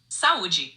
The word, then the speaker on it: Saúde: Saúde, meaning health or cheers. Remember, it's pronounced saúde.